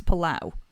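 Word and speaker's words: Palou: the main one being how do you pronounce his name so when he was in F3 he was always Alex palao and then since he's turned up in and indie car he's been poo right I don't know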